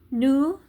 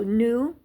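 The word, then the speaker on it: nous: he L is she new is we now we don't pronounce the S this is very common in French sometimes you do sometimes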